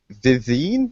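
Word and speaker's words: Vivienne: from Dragon Age Inquisition vivine is that how you pronounce that name Viv Viv from Dragon Age Inquisition she's not actually French but the name should be said French carry on Kevin spy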